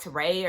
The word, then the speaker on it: Tari: I think it's like Teray or something like that, but it's spelled like Tari.